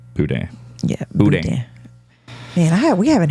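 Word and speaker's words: boudin: be yeah buan buan some people say Budan but it's buan yeah man I we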